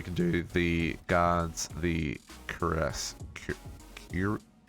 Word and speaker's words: cuirass: So we can do the guards, the cuirass, cuirass? How do you pronounce that word? Cuirass.